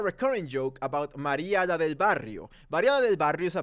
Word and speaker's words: Barrio: say Maria la del Barrio bario is Barrio it has two r's am I really teaching